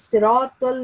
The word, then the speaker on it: صراط: Also, the sound of ta is supposed to be pronounced a little thicker than the sound of ta. Is siratul lazina, there's a ta in sirat. You have to pronounce the ta sound a little bit thicker, like siratul lazina.